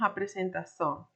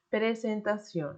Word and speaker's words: presentación: español nosotros no diríamos apresentación, ¿ok? Nosotros diríamos presentación, ¿ok? Entonces, esa A que se puya en el portugués no se dice en el español, se dice presentación, no a presentación, ¿ok?